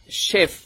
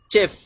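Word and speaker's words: chef: শেফ বলবো না বা দেখতে মনে হচ্ছে চেফ চেফের মত মনে হয় কিন্তু চেফ হবে না এটার উচ্চারণ হবে শেফ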